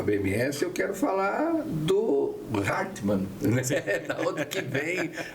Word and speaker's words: Hartmann: Esse Hartmann é alemão, É alemão. A pronúncia é Hartmann, é isso?